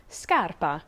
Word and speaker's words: scarpa: scenery view or landscape sc plus a o or u is a hard sk sound for example scarpa shoe and scala staircase